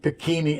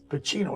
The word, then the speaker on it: Pacino: You say Pacini. And school, when I went to school, they'd always be saying Pacuni, Pacani. Yeah, I would have said Pacino. Pacino, yeah. Right. No. Pacino, and he pronounced it right.